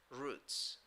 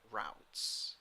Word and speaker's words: routes: Now, number three, she also chooses the best routes or routes. Okay? According to the Merriam-Webster dictionary, you can pronounce that word in those two different ways.